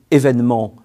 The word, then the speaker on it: événement: C'est le cas notable du mot « événement » qui s'écrit avec deux accents aigus dans l'orthographe traditionnelle, alors que le second « et » se prononce « est » et non « et ».